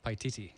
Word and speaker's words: Paititi: Paititi.